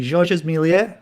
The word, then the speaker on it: Georges Méliès: But yeah, it is done in a Georges Méliès, I believe is the proper way to pronounce it.